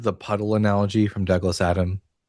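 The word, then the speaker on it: Adams: Have you Have you ever heard the puddle analogy from Douglas Adam? No, I haven't. It's pronounced Adam.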